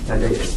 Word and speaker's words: Thaddeus: Or when I'm sorry, how do you say Father Thaddeus? Tadeusz? Thaddeus, yes.